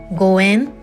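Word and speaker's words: 五円: Because the Japanese pronunciation of 5 yen, goen, sounds identical to the word meaning a meaningful connection or fortunate relationship.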